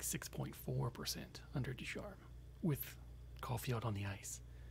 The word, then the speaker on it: Ducharme: Ducharme, yep. Yeah, so Caufield was only shooting at 1.4% under Ducharme. And the team was shooting at just like 6.4% under Ducharme with Caufield on the ice.